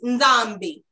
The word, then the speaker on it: Nzambi: So Nzambi, you're saying it. But it's Nzambi. It's almost like you're swallowing.